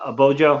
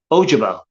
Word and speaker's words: Ojabo: ahead of david uh a bojo is how you say his name hang on guys i just missed it yeah ojabo i was like i didn't sound right in a vacuum i'd